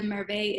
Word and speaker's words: Merveilles: be Hermes, Eau de, and I'm going to spell it, Merveilles.